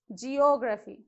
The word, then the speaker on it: geography: Geography. Let's see how many syllables. Geography. So from back, third syllable. So again it falls before O.